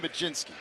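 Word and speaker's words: Mlodzinski: What happened to the L O D? I just know how to pronounce it. I can't spell it. Carmen Majinski, right-hander. And where did the J come from? I see a Z. I don't see any J in there.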